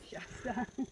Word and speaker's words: Shasta: Shasta.